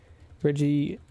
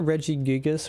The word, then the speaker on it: Regigigas: Regigigas because of design.